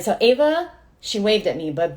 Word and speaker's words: Ava: beautiful, amazing beings like Ava. I keep calling her Eva, and I'm trying not to, so the whole episode is just going to be me trying to say her name right.